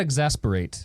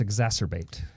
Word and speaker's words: exacerbate: Yeah, it's not exasperate. It's exacerbate.